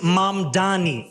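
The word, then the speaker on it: Mamdani: And furthermore, the name is Mom Dani. M A M D A N I. You should learn how to say it because we got to get it right.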